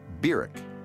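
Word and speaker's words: Barack: august of 1959 was birak Hussein Obama that's how he pronounced his name burek he was welcomed at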